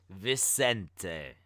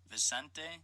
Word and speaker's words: Vicente: It's not Vincent because it's got an E at the end.